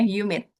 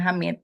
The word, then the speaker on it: humid: Ini contoh ee bacanya apa? Bacanya humid. Humid. Humid. Humid. Ya, bukan hamid. Humid.